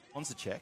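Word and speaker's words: Honzáček: the chat there, Czech, the C with an accent to make it a ch sound, not a s sound. In the Czech language, the C by itself with a vowel after it is pronounced s. You know, it's like circus. The first C in circus, that would be how it's pronounced. You don't pronounce the C in Czech Republic as a k. They have the K for that.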